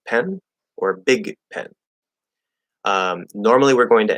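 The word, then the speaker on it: Bic: be big pen or big pen. Normally, we're going to end up stopping or holding the K sound or the G sound, spelled with a C, B-I-C, but it's a K sound.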